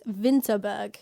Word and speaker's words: Winterberg: about this later but it's winterberg but they pronounce a w as a v so it's vinterberg but yeah this is